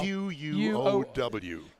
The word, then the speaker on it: Quow: You want me to pronounce that? Quow. Yeah, Quow. Quow. Q-U-O-W.